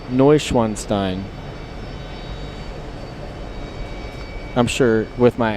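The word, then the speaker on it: Neuschwanstein: No Schwanstein. Did I say it right, Les Paddock? It's pronounced Noanstein.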